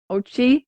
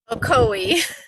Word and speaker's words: Ocoee: at the Wolfgang Academy of grooming that's in Ochi is that how do you pronounce it Ocoee oh I knew that oh Chloe I can